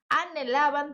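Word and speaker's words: anhelaban: tá ansiar e Ó atenção h no espanhol é mudo não importa que ele tá depois do n não vai ter não é anav é som de n porque o h é mudo anelam tener iOS eles ansiavam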